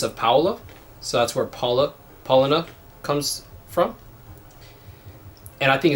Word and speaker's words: Paulaner: And Paulaner, even though it looks like Paulaner, is pronounced Paulaner.